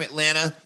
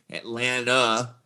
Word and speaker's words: Atlanta: She's from Atlanta. That's how you pronounce it, by the way. Atlanta, N-U-H on the end. I'm from Atlanta. If you say Atlanta, that's an automatic sign you're not from Atlanta.